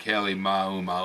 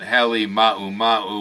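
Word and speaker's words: Halemaʻumaʻu: common pronunciation but anyhow if you put all the akina's in and sound that it is probably more like Haley ma ma who local Hawaiians who speak the language unlike myself can correct me all the guys in the news lately are calling it Hallie mama which certainly makes a lot more sense anyway pronunciation aside the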